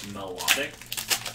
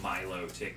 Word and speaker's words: melodic: i want to pronounce it more like melodic you know like melody kind of thing so not milo tick and separating out the